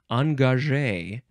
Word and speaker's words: engagé: So it's the word engage, but the last letter, the last E, has an accent that goes boop, down on the left, up on the right. So it is pronounced engagé.